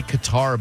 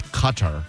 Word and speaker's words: Qatar: If you didn't know, Iran retaliated today by dropping bombs on our military base in people say Qatar, but I think it's Qatar.